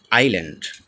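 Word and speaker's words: island: এখানে যেমন number one আইল্যান্ড আইল্যান্ডের আমরা দেখতে পাচ্ছি এস টি সাইলেন্ট রয়েছে তো আইল্যান্ড মানে হচ্ছে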